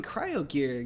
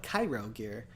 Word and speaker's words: Cryo Gear: times but and also even cryo gear gets mispronounced a lot of people call it Cairo gear yeah yeah I think